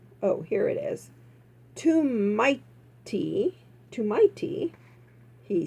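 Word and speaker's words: tomte: He trumped and pronounced, oh, here it is, "Too mighty," he said. Okay, so that's pronounced too mighty. It looks like trumped. Anyways, I'm glad it's not trumped.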